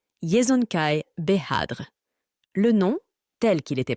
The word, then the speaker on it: Yezonkai Behadr: de temouine au conquérant le nom du père de genjiskanan est un mot qui ne peut pas être prononcé exactement en anglais il sonnait quelque chose comme cela yzonkaai behadre le nom tel qu'il